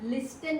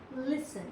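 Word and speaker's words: listen: यहाँ आप लिस्टन नहीं पढ़ेंगे, ये है लिसन, यहाँ टी साइलेंट है।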